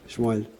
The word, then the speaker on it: Shmuel: How do you say it in Hebrew? Isn't it Shmuel? Shmuel.